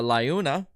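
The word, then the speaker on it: LiUNA!: So we are going to go through the 2024, the Laguna.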